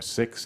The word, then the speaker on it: Sikhs: 9/11, a number of Sikhs, or Sikhs is the correct way of pronouncing this is, were killed, shot.